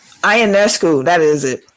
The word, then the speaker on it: Ionescu: It's like Ionescu. Ionescu, that is it. It's all them extra syllables and whatnot in there.